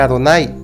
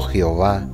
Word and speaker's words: Adonai: las vocales de adonay sabía que aunque se escribe de esta manera debía de leer Adonai y no Jehová esta estas esta palabra